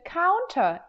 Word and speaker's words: counter: Same goes for kitchen counter. It is not kitchen counter, But for Americans, you'll almost always hear that with no T. Counter, counter, kitchen counter.